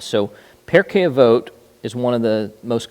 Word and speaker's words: Pirkei Avot: So Pirkei Avot is one of the most common. Pirkei Avos, you may hear. That's just Ashkenaz, means the same thing. It's just different pronunciation.